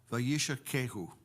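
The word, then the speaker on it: וַיִּשָּׁקֵהוּ: And the pronunciation is vayish, vayishakehu. Vayish, no. Vayishakehu. All right?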